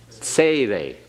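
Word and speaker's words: tsere: is the longer one say they say they make certain you have that a in there say they okay and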